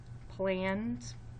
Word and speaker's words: planned: If we underline that base word plan, it's a closed syllable, but it only had one consonant at the end. That's why we had to double that consonant to keep that vowel sound short. We might think it was planed, getting confused with an E drop, silent E syllable.